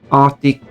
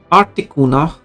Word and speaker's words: Articuno: Articuno, as I could see someone pronouncing it. Articuno. Because it's from Spanish uno.